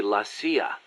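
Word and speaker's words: la CIA: So the story goes around here they say lassia instead of CIA. Huh? Um nothing strange about it. That's how it's pronounced when you read it in Spanish.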